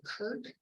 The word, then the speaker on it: Krk: we went to the island of Kirk which is spelled krk the croatians are not really big on using vowels all the time and we went to